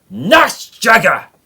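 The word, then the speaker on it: Nachtjäger: Anyway, I think you might have already guessed it, but we have the Bf110E, and you've got to pronounce this bit right, NACHTJAGER! Because it's German and you've got to be pissed off with everything.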